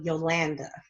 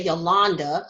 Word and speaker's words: Yolanda: haven't my stance for Yolanda even though some people like to say Yolanda I'm like no it is my name is spelled my name it sounds the way it's spelled cuz it's the a